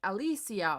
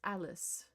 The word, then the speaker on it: Alice: real life last name, people thought that I had to have had a weird way to pronounce Alice. So they always called me like Alysia or Aly. And I would be like, "No, just just Alice.